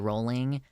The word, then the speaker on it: Rowling: that her name like she pronounces her name JK rolling and I did learn that a couple years ago I grew up calling her rling because I didn't know the difference but refuse to update